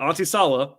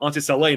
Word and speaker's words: Onsi Saleh: I had heard that Auntie Salah or sorry, I saw it at that point in time. Auntie Salet now as I know how to say his name better.